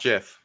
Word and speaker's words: GIF: is GIF yes dot JF like the peanut butter the Creator said so